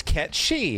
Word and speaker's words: Cait Sith: Square Enix do this the Japanese version has the correct pronunciation it's catchy and with like a video